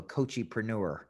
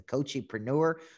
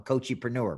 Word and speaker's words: coachepreneur: what is this a cochipreneur like what are you saying i'm like i'm half coach half entrepreneur i'm a coachepreneur man and they would